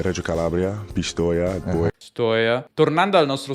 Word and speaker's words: Pistoia: questa clip quindi davvero sorprendente e reggio calabria pistoia il gusto tornando al nostro sono io che abbiamo visto prima bisogna farlo anche in parole come pistoia pistoia jajaja molto spesso chi parla inglese dice pistoia